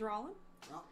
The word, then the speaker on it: Roland: you my name is Roland it's Oh ro LAN Roland yes but he pronounces it rollin this southern D at